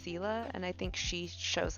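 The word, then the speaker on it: Scylla: in like the story of i think it's pronounced sila and i think she shows up in the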